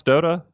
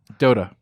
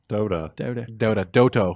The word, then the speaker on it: Dota: How do you pronounce Dota? Dota, Dodo Bird. Sounds like Dota. Dota, Doto. Okay, what do you mean you don't believe in the...